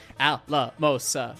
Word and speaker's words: Alamosa: So anyways, and it's 4 syllables, so Alamosa, 1, 2, 3, 4, chuff, chuff, chuff, chuff.